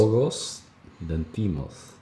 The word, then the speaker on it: Yorgos Lanthimos: Yorgos Lanthimos? Is that how you say it? How would you say? Yorgos Lanthimos.